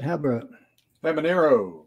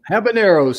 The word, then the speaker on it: habaneros: jalapeno organic habit how do you say that haber feminero habaneros thank you sometimes i just can't get some